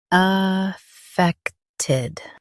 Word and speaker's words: Affected: Affected. Both US and UK have the same pronunciation of this word. Affected. Now read the syllables shown on the screen naturally. Affected. Affected. Stress feck and keep ted quick.